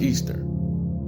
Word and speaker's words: Ishtar: This is Ishtar, pronounced Easter.